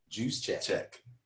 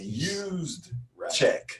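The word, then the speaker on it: Juszczyk: been mispronouncing his name he pronounces it as juice juice chechik okay cuz this Twitter handling juice 44 so yeah you're right you're absolutely right and I was pronouncing as is really used check right so my apologies mr.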